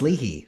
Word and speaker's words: Leahy: And I apparently I say my last name wrong. It's Lehi. Every time I go to Ireland, they're like, "It's Lehi."